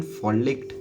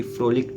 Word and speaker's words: frolicked: करता था, या फ्रोलिक, खैर मैंने वापस से रॉन्ग प्रोनाउंस किया, ये फ्रोलिक्ड है, फॉलिक जैसा कोई वर्ड नहीं है।